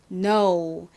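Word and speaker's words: know: 자 한번 읽어보도록 할게요 먼저 k와 n은 키읔 발음은 탈락하고 니은 발음만 나죠 그리고 모음 부분을 봤더니 오와 w가 왔네요 자 먼저 오 발음은 알파벳 이름 그대로 오 발음이납니다 그리고 더부유는 무슨 소리가 나나요 우 소리가 나죠 그러니까 합쳐지면 no 이런 소리가납니다 여러분 근데 저희가 전에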